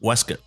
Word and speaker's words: waistcoat: them is that the word waistcoat is actually pronounced weskit really yes Wow yeah take that with you